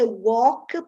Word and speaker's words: walk: Anyway, A followed by L often becomes pronounced as an O. And sometimes some letters are not pronounced at all. In talk, the L doesn't exist in the pronunciation.